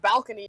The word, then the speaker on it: Balkani: said Jay made a joke where he thought it was pronounced balcony, so I changed it. That's how it's pronounced.